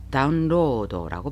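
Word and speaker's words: ダウンロード: 다운로드가 일본인들은 다운로더라고 발음하고 JLPT N1급에서 자주 출제되는 가타카나 단어입니다.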